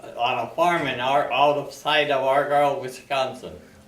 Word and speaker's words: Argyle: I was born in Argyle, on a farm outside of Argyle, Wisconsin. Argar? Argyle. Could you spell it?